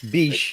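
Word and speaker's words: Bitche: it's in france though i'm pretty sure it's pronounced beach it's beach yes but that doesn't mean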